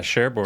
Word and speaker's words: Cherbourg: So she went from Egypt to Cherbourg, Is that how you say it in France? Yeah, Cherbourg, and yeah.